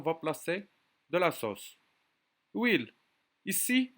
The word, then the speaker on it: huile: Huile. Ici, huile, c'est un nom qui commence avec une H muet.